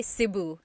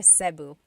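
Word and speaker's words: Cebu: it seu or SIU so technically in theal alphabet the letter e can be pronounced e or E like the letter I so I say SIU SIU and I know some people say seu but usually it's either SIU or sebu good question all right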